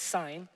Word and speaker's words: Sin: watch this the whole israelite community set out from elam and came to the desert of sine now i know it is spelt sin but it's sign which is between elam